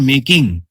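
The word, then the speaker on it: make: এবার এক নজরে যেগুলো প্রথম থেকে আলোচনা করলাম, যদি দেখতে পাই আমরা ই আছে, সাইলেন্ট ই থাকে, তাহলে সে সাইলেন্টটা হাঁটিয়ে দেবো। যেমন মেকিং, বুঝতে পেরেছো?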